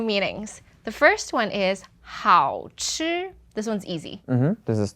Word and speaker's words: 好吃: One was 好吃 is tasty, and then the other one 好吃. Yeah, the second one was 4th tone. 好吃.